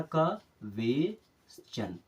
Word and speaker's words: question: कुछ भी बोल करके, लेकिन इसका सही प्रोनाउंसिएशन होता है, इसका तो हो गया सन। अब ये पूरा क्या हो जाएगा? क्वेस। क्या हो जाएगा? क्वेश्चन। इस प्रकार से पढ़ना है, आधा का वेश्चन।